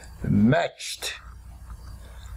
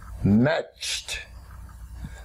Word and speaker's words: matched: tense we write em a t CH e d but we pronounce it matched matched matched s H when